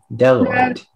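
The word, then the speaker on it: bdelloid: Speller 53, your word is deloid. Deloid. Can I have the definition, please? Deloid means relating to a class of rotifers that are entirely made up of females and found in freshwater habitats. Deloid.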